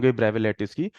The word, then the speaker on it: Bravais: the bra bra lce actually bra bra s silent s is silent here it is called the bra lce so can anyone tell